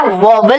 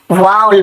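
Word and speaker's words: vowel: अब देखोगे ए जो है ना, ये हमारा वाउल है बेटा, वॉवल नहीं बोलते, वाउल बोलते हैं, वाउल।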